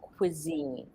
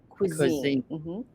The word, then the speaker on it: cuisine: and here's the problem it's not a native English word it's we take it from French so we pronounce it kind of like the French cuisine cuisine yes yeah perfect I